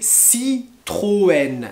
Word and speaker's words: Citroën: a les marques de voitures comme renault peugeot citroën alors je répète re nos re noé pas renown renault peugeot et pas peu go peugeot peugeot et citroën citroën je répète le premier c'est renault peugeot